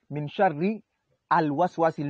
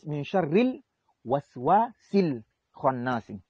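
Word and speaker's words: مِن شَرِّ الْوَسْوَاسِ الْخَنَّاسِ: Il faut prononcer comme ça, même pour les débutants. Quand on va enseigner, il faut dire Min sharril waswasil khannas. On appelle ça la liaison. Il y a Hamzatul Wasli. Quand tu l'apprends, tu dis Min sharri al waswasil. Le A, on ne doit pas la prononcer. Le alif, on ne doit pas le prononcer.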